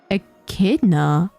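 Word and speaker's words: echidna: thing cutest thing in the world can you pronounce en enada a kidna a kidna the a kidna H I've usually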